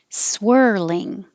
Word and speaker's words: swirling: unassuming unassuming external external swirling the vowel is er like her swirling categories categories and